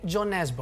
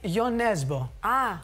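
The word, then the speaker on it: Jo Nesbø: Κοιτάξτε, στα αγγλικά τον λένε όλοι Τζο Νέσμπο. Ναι, αλλά αυτός είπε δεν είναι Άγγλος. Ναι, το σωστό είναι Γιο Νέσμπο.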